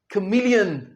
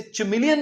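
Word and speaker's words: chameleon: खुद बोल कर बताएं ये है कमिलियन आपने इसे चिमिलियन नहीं कहना ये क्या है कमिलियन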